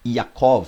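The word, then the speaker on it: יעקב: Jacó, do hebraico Yaakov, né, há quem pronuncie Yaakov, fica à vontade. Geralmente o hebraico é mais fechado, né? Yaakov.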